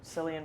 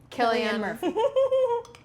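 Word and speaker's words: Cillian: I'm probably going to say it wrong, but Sillian Murphy. Killian. Um, I was like, how are you going to say Colin Frell? I always forget if it's Sillian or Killian.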